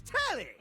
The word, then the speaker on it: Telly: name's Telly. Rhymes with It's Nelly. right? Like. Whoa, Nelly!